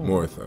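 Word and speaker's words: Morytha: Morotha, okay, that's how you say it.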